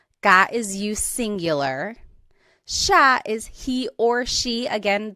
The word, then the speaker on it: siya: And again, just to point out the pronunciation, it looks like it should be pronounced siya, but it's usually pronounced siya, siya. Sila is they.